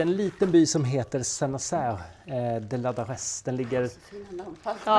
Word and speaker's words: Saint-Nazaire-de-Ladarez: Hur var det man uttalade by nu igen? Vi bor i en liten by som heter Senas eh de Ladares.